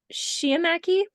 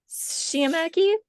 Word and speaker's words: sciamachy: Sciamachy. Sciamachy. It's something where it's like the S and the SH sound. So Sciamachy, something like that.